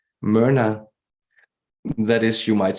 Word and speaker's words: Myrna: Her name that she speaks to us is Myrna. Myrna, that is, you might spell it with a Y-M-Y-R-N-A.